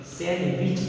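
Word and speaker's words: sandwich: मी night यहां पे सेंड विच नहीं पढ़ेंगे सेंड विच पढ़ेंगे डी साइलेंट हो जाएगा यहां पे बहुत से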